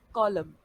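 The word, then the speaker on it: column: अब यहाँ पर भी एन जो हमारा है वो साइलेंट है, यहाँ पर भी हम एन को बोलते वक्त इंक्लूड नहीं करेंगे, जबकि लिखते वक्त एन का इस्तेमाल हो रहा है।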